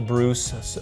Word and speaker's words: Breus: video audience it's great dr. Michael Bruce pronounced like Zeus and it's about discovering